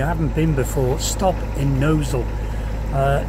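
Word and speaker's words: Gnosall: If you are on a boat and you haven't been before, stop in Knowsall. It is spelt differently, it's spelt Gnozzle, but it is called Knowsall. Lovely place, go and explore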